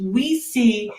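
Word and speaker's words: oui: Oh, it's pronounced, it's we see. We see. They explain in their little book. It's the French word for yes and the Spanish word for yes.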